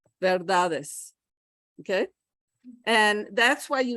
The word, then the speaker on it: verdades: The D comes back to be the beginning of the next syllable, verdades, okay?